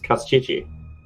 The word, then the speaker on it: Kostchtchie: I mean, That's we part of could his pronounce it power. correctly, but You whatever. never say his real name. It's Kostchtchie.